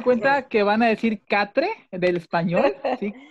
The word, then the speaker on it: quatre: Háganme cuenta que van a decir quatre del español, ¿sí? Quatre, pero con acento francés, sin pronunciar la última E y con acento francés, la R.